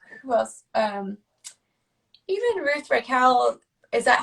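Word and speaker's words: Reichl: Even Ruth Raquel. Is that how I say her name properly? Raquel. Rachel. Yeah. Reichel.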